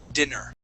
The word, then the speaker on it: dinner: this this word here when you have two NS okay that is dinner okay with one n that is Diner okay so this word